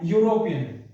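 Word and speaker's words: European: जो उच्चारण है वो क्या है, इसका जो उच्चारण है वो है यूरोपियन, क्या है, यूरोपियन, ठीक है भाई, यूरोपियन, ठीक है।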